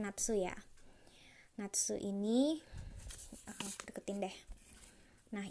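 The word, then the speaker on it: なつ: bacanya nafsu-nafsu itu adalah musim panas Jadi ini bacanya nafsu ya Natsu ini aku deketin deh nah ini ini adalah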